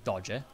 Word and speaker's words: Doge: So election and term of the, yes, the Doge, which we actually say Doge. I mean, I'm not sure what the Venetians would say, because again, like, Italian pronunciation and Venetian pronunciation might be different.